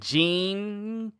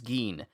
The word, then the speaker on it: Ging: I said Jing, and I said Ging, but it's Geen.